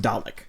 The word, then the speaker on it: Dalek: is Dalek, which, to my understanding, Dalek, it's pronounced Dalek. Dalek.